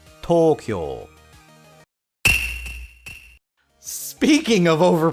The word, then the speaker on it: Tokyo: of Japan's capital Tokyo once again those long sounds come into play most Westerners don't use